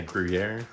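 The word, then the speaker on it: Gruyère: Yeah, Gruyere.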